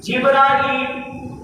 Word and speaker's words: جبرائیل: بھی اور میکائیل بھی۔ اسی طرح جبرائیل یہ تلفظ جو ہے حدیث میں آیا ہے، مسلم شریف باب الدعا کے اندر تمیم بن قیس کی لغت میں جبرائیل، تو جبریل بھی کہہ سکتے ہیں، جبرائیل بھی کہہ سکتے ہیں، دونوں تلفظ کے ساتھ پڑھا جا سکتا ہے۔ اور اصلی نام ان